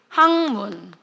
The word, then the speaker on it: 학문: 이거 미음 앞에서 기억이 뭘로 바뀌어요? 그지? 이거 발음 어떻게 돼? 항문.